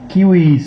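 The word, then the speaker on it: civis: Latin উচ্চারণ আর একটু কঠিন, ওরা কিউইস বলে, আমরা ইংরেজিতে সিভিস বলি।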